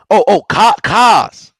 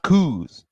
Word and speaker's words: Kaz: It's pronounced Kaz. Kaz, not Kuz.